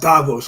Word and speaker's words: Davos: that I believe it's pronounced Davos only because they're elite.